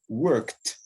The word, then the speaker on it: worked: Maintenant, à l'exception de ces deux consonnes, tous les autres consonnes, devant eux, les E2 se prononcent T. D'accord? Par exemple, work, worked.